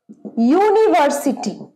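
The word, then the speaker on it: university: আমরা চোখ বন্ধ করে এন বসাবো এবার ধরো ইউনিভার্সিটি তোমরা বলবে ম্যাডাম এটা তো ইউ দিয়ে শুরু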